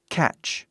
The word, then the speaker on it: catch: como tá escrito aqui o te é Silent ou mudo silencioso não faz som ou seja o tch e o ch fazem o mesmo som por exemplo catch aí a pronúncia é